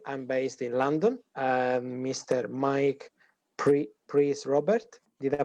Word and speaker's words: Mike Prys-Roberts: Mike Prys-Roberts. Did I pronounce correct?